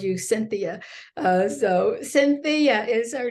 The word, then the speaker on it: Sentheia: So Sentheia is her name, Sentheia McLeod.